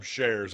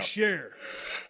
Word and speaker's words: Shear: Is that how you say it? Shares. Shear. God dang, dude.